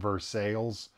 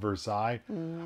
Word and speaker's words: Versailles: i learned side note you know how there's a town in our state indiana called versailles versus that should be called versailles i learned that texans